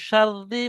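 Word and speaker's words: شَرِّ: মিন শাররি মা খলাক। মিম নুন জের মিন। শিন রা জবর শার রা জের রি।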